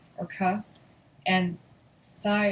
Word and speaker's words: psi: Theta is pronounced as in the, phi is pronounced, chi is pronounced k, or ka, and psi is pronounced as in drops.